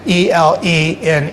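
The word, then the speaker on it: Elene: E L E N E. She pronounced it Elaine and everyone in the family said Elaine.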